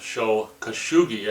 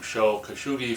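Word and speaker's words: Sho Kosugi: all three films of show khashoggi i think i've been saying his name wrong i might be saying show kashugi from now on even though i don't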